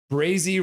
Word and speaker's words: Brazy: Brazy rhymes with crazy.